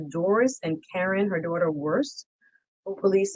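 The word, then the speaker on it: Wurst: Their name is W-U-R-S-T, Worst is how you say it, is a part of Sullivan's ongoing efforts, and the Plantation Police then became involved.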